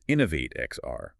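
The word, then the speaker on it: Inno8 XR: He's the founder and CEO of Inno 8 XR, which is pronounced Innovate XR, by the way. Right, Innovate XR.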